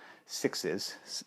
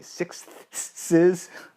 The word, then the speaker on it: sixths: and either pentatonic moves or sixes, or to be pronounced properly, sixths.